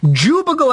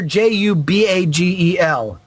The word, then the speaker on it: Jubagel: For those asking for the correct pronunciation from a reference to an old podcast, it is Jerry's Jubagel Empire, Jubagel Empire.